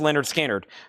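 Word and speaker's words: Lynyrd Skynyrd: $34.99 for T-Rex and Leonard Skard. Pronounced Leonard Skard.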